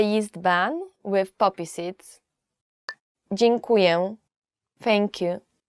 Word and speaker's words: Dziękuję: Dziękuję. Thank you. Dziękuję. Dziękuję is just thank you. Yet it's quite difficult to pronounce.